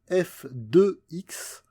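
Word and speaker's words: f(x): Donc cette partie-là, ça se prononce f de x. On ne dit pas f parenthèse x ou ce genre de choses. On dit f de x égale 2x plus 3.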